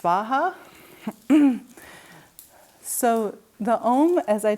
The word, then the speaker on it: Svaha: In Sanskrit, I think the Soha would be pronounced Svaha.